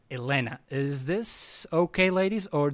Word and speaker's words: Helena: So I'm not going to say Rita or Helena, but rather Rita and Helena.